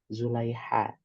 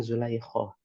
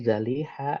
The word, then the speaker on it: Zulaikha: Jadi ini sudah mulai benar, tapi ejaannya masih Zulaiha, bukan Zulaikho, atau bukan Zulaikho, tapi Zaliha atau Zulaiha.